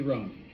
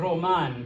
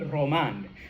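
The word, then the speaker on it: Román: There's actually an accent mark there. Okay. Um because obviously you see that in English and everybody just calls me Roman.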